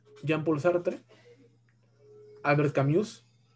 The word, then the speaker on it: Camus: Albert Camus, escribe Albert Camus, ¿no? Camus se pronuncia.